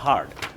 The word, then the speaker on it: heard: Number 3, I have হার্ড, I have হার্ড মানে কি আমি শুনেছি, হিয়ার্ড না, উচ্চারণটা হবে হার্ড।